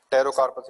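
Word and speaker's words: Pterocarpus: टेरोकार्पस याद रख लेना, just genus name, P silent रहेगा, टेरो कार्पस, ठीक है।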